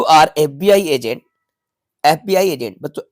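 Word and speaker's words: FBI: answer है यू आर एफबीआई agent एफबीआई agent बच एफ को जब आप राइट करेंगे तो ए साउंड मिलेगा आपको जोक वाउल साउंड है तो राइट आंसर एन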